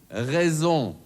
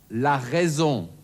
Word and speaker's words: raison: Erstens das stimmhafte S, zum Beispiel in Raison, la raison.